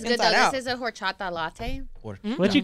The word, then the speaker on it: horchata: I know y'all don't say the H. Horchata?